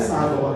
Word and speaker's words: सागर: आज भी रेलवे की टिकट में वही स्पेलिंग, वो चेंज नहीं की गई है। उनको उससे याद रखा जाए और जुड़ा जाए, इसलिए उसको सागौर ही लिखते हैं, नंबर पढ़ते सागर है।